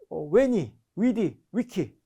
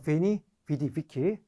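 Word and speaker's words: Veni, vidi, vici: 자, 원어는요. 왜니, 위디, 위키. 또 V를 중세 발음처럼 V로 발음하면 우리는 이게 좀 더 익숙해져 있죠. 베니, 비리, 위키 이렇게 발음하는 게 좀 더 익숙합니다.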